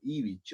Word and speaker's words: Ivić: bien mi apellido, Ivić, aunque yo escribo con C, gente dice Ivić, porque letra Ch es muy difícil de pronunciar y es un tipo de letra que no se suele pronunciar cuando se nos menciona fuera de nuestro idioma.